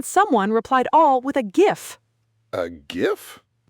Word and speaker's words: GIF: GIF. Hard G. It stands for graphics. The G is for graphics.